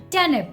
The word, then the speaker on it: turnip: Midnight silent there and nip is not completely nip okay this is a very slight difference it's nib nip turnip okay so again if